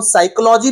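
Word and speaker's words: psychology: है उसको देख लीजिए मनोविज्ञान जिसको हम साइकोलॉजी भी कहते हैं पी साइलेंट होता है यहां पर सीखने की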